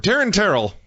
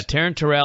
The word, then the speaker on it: Taryn Terrell: For Taryn Terrell, because it rhymes with hotter than hell. That's right, yes. Yeah, Taryn Terrell, hotter than hell.